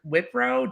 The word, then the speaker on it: Wipro: I think you pronounce it Wipro, w i p r o.